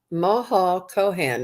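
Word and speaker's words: Maha Chohan: Moho Kohan is how they pronounce it in the book.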